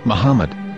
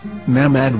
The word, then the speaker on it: Muhammad: Muslim prophet, or as Mamad with no A after the H. According to Ben Yehuda's Hebrew English Dictionary, it is correctly pronounced as Muhammad, not Mamad.